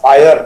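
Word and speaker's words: FHIR: WHO का standard है, FIHR, फायर उसको प्रोनाउंस करते हैं, फास्ट इंटरऑपरेबल हेल्थ रिसोर्सेज, उसकी रिलीज 4 है, उसके मुताबिक ये सर्टिफिकेट बनाया गया है।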